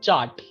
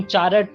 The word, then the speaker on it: chart: Again तुम देखोगे जैसे कि आम में था, we don't pronounce r, it is chart, right? तुम चारट नहीं बोलते, तो the ch और a, and this is t, chart.